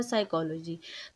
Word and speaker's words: psychology: हो रहा है ना लेकिन मैंने इसको पढ़ा साइकोलॉजी तो पी जो है बेसिकली इसमें साइलेंट लेटर है लेकिन ये किसी भी वर्ड